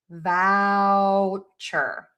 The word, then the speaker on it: voucher: Now for vow which is v o u c h e r. Move your mouth for the ow. Vouchure. For vulture you need an L in there. So, you have a couple of ways to do this. So, if it's really difficult for you and you really want to say vulture instead of voucher, think about really hitting the um teeth for that L. Vure.